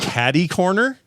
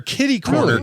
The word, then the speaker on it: catty-corner: Catty-corner? Catty-corner. Catty-corner. I've never heard that. We hear kitty-corner constantly. Oh, really? I've heard I'm more familiar I'm more familiar with catty-corner than kitty-corner.